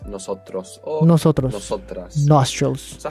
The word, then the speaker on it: nosotras: Nosotros is the word for we, for a male or mixed group. If you are just females, what do you think you might say? Nosotras.